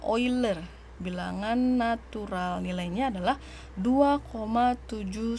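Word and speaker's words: Euler: ada ee itu bilang ane uler ya atau bacanya oil er bilangan natural nilainya adalah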